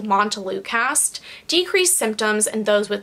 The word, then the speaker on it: montelukast: Montelukast.